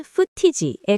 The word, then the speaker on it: footage: 다음으로 footage는 영화나 TV의 특정 장면 혹은 촬영 영상을 의미하는데 발음은 footage에 가깝습니다.